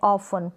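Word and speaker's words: often: हो रहा है नहीं मैच है कैच है ऑफेन तो ये ऑप्शन भी पढ़ा जाता है तो ऑप्शन भी पड़े तो भी वह गलत नहीं होता तो ऑफेन यह लिसन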